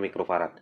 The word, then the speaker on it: mikrofarad: maksudnya 1 mikrofarad ya UF itu bacanya mikrofarad Nah kalau ini ini